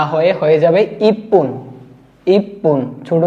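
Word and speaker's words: 一分: এক মিনিটের ক্ষেত্রে ইচিপুন না হয়ে যাবে ইপপুন ইপুন ছোট স দিয়ে যুক্ত হয়ে গেছে নিষেত্রে ফন হবে সানের ক্ষেত্রে হবে সান পুন তিন মিনিট ইন পুন না হয়ে যাবে ইপন ইপন যুক্ত হয়ে যাবে তারপরে গোফন রুকু না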